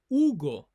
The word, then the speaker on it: Hugo: For example, my name is Hugo. Hugo. So we don't pronounce the letter H in Spanish.